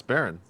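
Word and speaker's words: Baryn: do you remember yeah it's Baron all right it's spelled b a r y n yeah I'm glad you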